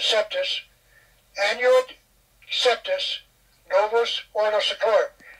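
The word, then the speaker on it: coeptis: On the back of your dollar bill, it says annuit coeptus, or I pronounce it septus, annuit septus novus ordo seclorum.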